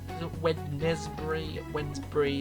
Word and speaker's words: Wednesbury: Tipton and Wednesbury, Wednesbury, it sounds like Wednesday and Wensleydale.